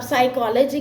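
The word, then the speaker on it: psychology: अब साइकोलॉजी के लिए आप एस नहीं लिखोगे, साइकोलॉजी starts with P and P is silent.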